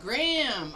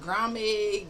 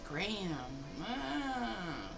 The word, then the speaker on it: Graham: Graham. Oh, Graham. So, I did say it right one of those times. I said Grammy. Grammy. But it's Graham. like graham crackers.